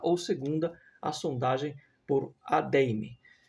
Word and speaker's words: Adeyemi: segunda a sondagem por a deim é assim que pronunci na deim H que